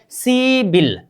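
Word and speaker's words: 십일: सीबिल। क्या? सीबिल।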